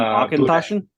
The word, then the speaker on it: Auchentoshan: I had You mean Auchentoshan? Boonahaven, which I'm probably pronouncing wrong, but yeah.